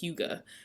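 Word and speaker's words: hygge: didn't know that but anyways h-y-g-g-e and it's pronounced huga but the idea of that is making your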